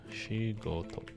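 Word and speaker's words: しごと: The pronunciation is shigoto.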